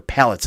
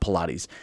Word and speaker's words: palates: Pilates at the time couldn't handle the hoppiness, or palates at the time, not Pilates. Palates is how that's pronounced. Pilates, huh?